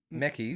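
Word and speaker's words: Mekies: How do you pronounce it? Meckis.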